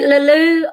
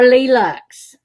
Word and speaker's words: Leleux: It would be Leleux or Leleux. Leleux, you know, is that they tended to, he tends to use Leleux, and I did for years. You pronounce the X.